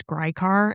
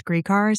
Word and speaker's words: Gricar: And I've known about this case for like years, and I always thought that it was Grycar, and I just recently found out it was Gricar, so it would have been very embarrassing if I mispronounced his name the entire time.